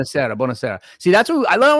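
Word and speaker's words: buonasera: How I say Bonasara? Because what I love about you is you always have the good pronunciation. Bonasara. Bonasera.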